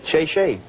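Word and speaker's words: 谢谢: Oh, thank you in Chinese is shay shay.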